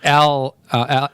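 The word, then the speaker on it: Arpaio: It rhymes with Scott Baio. It's like Al Paio.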